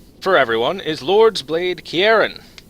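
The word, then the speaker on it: Ciarán: everyone is Lord's blade Kieran or Sierra and I think it's pronounced Kieran it's a it's a Gaelic name so it should be like a hard k sound for the c um she is very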